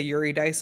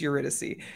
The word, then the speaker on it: Eurydice: Eurydice, to this day, when I look at it, I say Eurydice in my head first and then I'm like, "No, that's it's Eurydice."